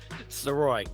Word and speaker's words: Sirois: how do you say your last name George soy I should Havey I was going to ask